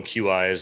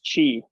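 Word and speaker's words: Qi: what i call them q i's i know that's not how you pronounce it but where you can just you know set it down on this and it and it charges the guy back up right which i talked about a while back but um i think it's pronounced chi yeah well i'm going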